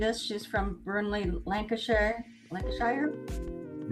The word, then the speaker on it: Lancashire: Lancasher Lancashire, right? They say Lancshire. Lancashire. No, just Lancshire. Langshshire. That's the way they pronounce it over there.